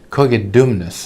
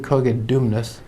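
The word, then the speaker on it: Cogidubnus: a king in britain cogit dumbness i think might be the pronunciation of the name king koget dumnas who maintained his unswerving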